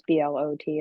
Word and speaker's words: Blot: Blot, Blo, it's Blot is how you say his name, but he was from France.